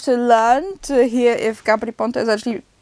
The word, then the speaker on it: Gabry Ponte: She pronounced the same way I did, Gabry Ponte.